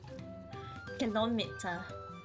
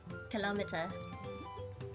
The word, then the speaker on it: kilometer: I see I see so for me I used to pronounce it kilometer because it was like kilo and meter combined in my brain but then I kept hearing people call it kilometer and I ended up calling it kilometer afterwards color okay no